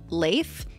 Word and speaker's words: Leif: air or beloved and is supposed to be pronounced like safe but with an L I found that kind